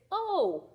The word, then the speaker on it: oh: what this word is the h is silent in this word so we're not going to hear the h this word is oh like oh no okay